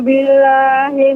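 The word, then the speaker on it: بالله: A'udzu billahi minasy syaithanir rajim. Ya, Ibu, untuk pengucapan billah ini ada sedikit juga ditekan Ibu. Billah, a'udzu billah. Tidak billah kurang. Billah. Demikian Ibu.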